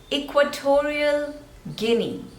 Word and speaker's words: Equatorial Guinea: Egypt Egypt next is Equatorial Guinea to real three syllables and stress is on the second one equatorial equatorial equatorial and this is Guinea Guinea Equatorial Guinea next is